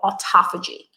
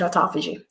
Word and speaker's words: autophagy: Sometimes you hear it pronounced autophagy, tomatoes, I pronounce it autophagy. Okay, so autophagy is your body's ability to literally detoxify and renew itself.